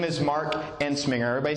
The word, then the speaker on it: Entzminger: You know, my name is Mark Enminger. Everybody say Ensinger. try growing up with a name that sounds like a sneeze.